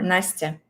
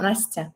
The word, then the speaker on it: Nastya: No, Nastya. Nastya. Nastya. Also, it sounds a little bit like nasty, right?